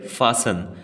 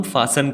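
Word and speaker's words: fasten: हैं शासन ध्यान दीजिए कौन सा लेटेस्ट साइलेंट है टी नहीं बोलना हम कहते फैशन हम फैशन कहेंगे जिसका मतलब होता है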